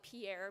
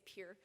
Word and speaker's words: Pierre: capital Pierre South Dakota you guys would call it Pierre but we don't know how to say it so we say Pierre Pierre South Dakota they they